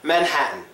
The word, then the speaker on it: Manhattan: it follows the rule the T becomes silent Manhattan Manhattan there are three exceptions